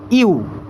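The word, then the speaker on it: ewe: মহিলা ভেড়াকে বলব হচ্ছে অপশন বিতে রয়েছে ইউ। অর্থাৎ ই ডবউই ইউ। এটার উচ্চারণ কিন্তু ইউ।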